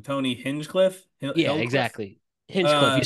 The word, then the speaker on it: Hinchcliffe: The whole, I keep saying his name wrong, Tony Hinchcliffe.